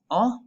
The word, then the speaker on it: ho: have an italian is ah make sure that you are not pronouncing the h you're not saying you're saying ah between hot and the